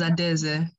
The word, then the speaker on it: Adaeze: Please pronounce me if you My name's Adeze.